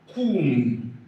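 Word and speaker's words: קוּם: And it sounds as the u in flute. Sounds as u. Flute. U. In pronouncing this word now, we have kum kum kum kum.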